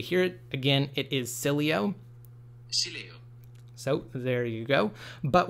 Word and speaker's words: Sileo: again it's pronounced Sileo we've been calling it silo with a silent e simply because again we